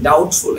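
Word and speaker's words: doubtful: After vowel, ভাওয়েলের পরে মানে যখন দিবেন তখন একটু মানে ভাওয়েলের পরে যদি বি এবং টি থাকে তাহলে বিটা সাইলেন্ট হয়ে যায়। ঠিক আছে? এটা ডাউটফুল।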